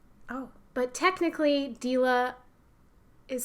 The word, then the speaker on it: Deela: I was growing up everyone would say dela and I'm like no that's not yeah but my parents